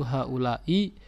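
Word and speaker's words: هؤلاءِ: nasab atau mahal jar, dia bacanya tetap satu, yaitu haulai, kondisi akhirnya tetap kasroh ya.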